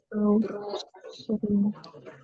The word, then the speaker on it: brought: Jadi GH-nya nggak dibaca. Brought.